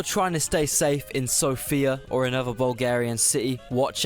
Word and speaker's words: Sofia: And Sofia is the capital. Well, Sofia. It's pronounced Sofia.